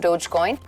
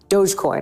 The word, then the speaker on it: Dogecoin: pyramid scheme to support dogcoin Dogecoin I think is how you say it right musk himself admitted